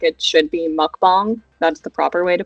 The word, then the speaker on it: mukbang: Like it should be mukbang. That's the proper way to pronounce it.